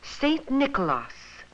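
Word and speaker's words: Sint Nicolaas: The Dutch people pronounced his name Saint Nicolaas, and this was the name they brought with them when they settled in New York.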